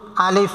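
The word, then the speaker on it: ألف: করতে হয় সেইটা আলিফ আলিফ বলার সময় দ্রুত বলতে হবে আলিফে টান হবে না যারা টান দিয়ে পড়ায় তারা ভুল পড়ায় আর যারা টান টান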